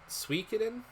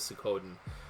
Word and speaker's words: Suikoden: I was playing, God, I've been pronouncing this way my entire life. I'm trying to get out of it now. You know what? Suikoden? Yeah, that's how other people pronounce it. Yeah, the captions are screwing it up. Okay, I'm going with Suikoden.